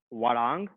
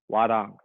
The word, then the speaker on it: Hwarang: All right, so this cycle's form is pronounced Hwarang. All right. If I remember correctly, the spelling of that is HWA space RANG. Hwarang.